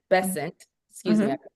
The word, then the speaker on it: Bessent: uh Scott Besset, Bessant, excuse me, I saying his name wrong, has been serving since August 8th.